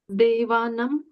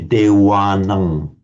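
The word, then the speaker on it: devānaṃ: It's between a V and a W. Now, the Thais, for example, always pronounce it as a pure W. They would say Dewanang, if the Thais would.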